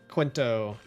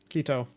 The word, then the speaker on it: Quito: flying from Atlanta to Quento. Where's Quento or Quido? Quito, however you pronounce it. There's no N in it. So, it definitely how I pronounced it originally was not correct, but I'm not sure where that is.